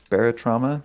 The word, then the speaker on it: Barotrauma: Hey, Jared, you told me about a game you've been playing, Barotrauma? Did I pronounce that right? Barotrauma, yeah.